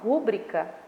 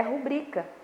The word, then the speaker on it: rubrica: Por exemplo, a palavra rubrica, tá? A maioria das pessoas falam rúbrica, mas o certo é rubrica, tá?